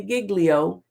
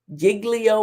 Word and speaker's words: Giglio: them in violation of its obligations under Brady Giglio Giglio or Giglio you pronounce it the way you want nonetheless the